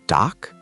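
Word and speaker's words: 닭: How about dak, meaning chicken. It has r is an exception. Right side wins. So doc perfect.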